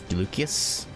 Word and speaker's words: Lucius: Or you said is pronounced with a K has a K sound. Uh, Luc Lucius.